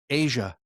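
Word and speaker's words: A'ja: sky's the limit for Ajay her. Wilson is fun to watch, though. She's a beast. Asia. Whatever. Did you say Ajay? How do you say her name? Asia.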